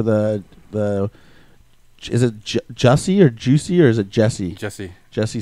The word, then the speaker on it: Jussie: was away for the is it Jussie or Juicy or is it Jesse? Jesse Smollett. Well, thing? it's spelled weird. It's like JUSSIE, yeah. but it's like Jesse. It's Juicy. It's spelled really weird.